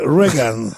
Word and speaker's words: Reagan: C'est Reagan. Yeah. Et on devrait prononcer I, et on prononcerait uniquement pour emmerder les Français.